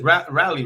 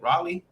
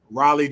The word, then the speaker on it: Raleigh: buy and buy it because you said it's rap rally right that's the one you want to fly into how do you say it Raleigh Raleigh Durham yes yeah it should be RDU I